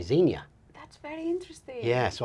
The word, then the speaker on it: Xenia: So I pronounce it Xenia. Xenia. But this name exists in lots of different places and lots of different countries, so everyone pronounces it differently.